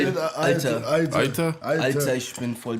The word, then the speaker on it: Alter: Aita, as my German people say in Nuremberg. Aita. How you say it? Alter.